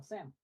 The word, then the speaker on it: Sam: Oh, Sam. Yeah. Okay. It's one syllable.